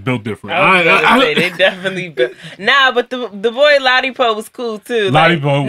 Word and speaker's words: Ladipoe: Ladipoe.